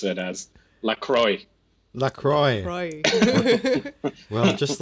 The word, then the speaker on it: La Croix: exploring the cult of lacro yay they pronounce that right lra there are two ways of saying it many people who are fancy like to use the French way to go with lro and then there is